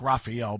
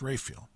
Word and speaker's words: Raphael: parish called Saint Raphael looks like Raphael but it's pronounced Rayfield okay the longtime priest